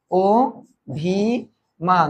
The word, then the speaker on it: অভিমান: কারণ আমরা জানি যে রসই কিংবা দীর্ঘই এর আগে যদি অধ্বনি থাকে সেটা ও এর মত হয়ে যায়।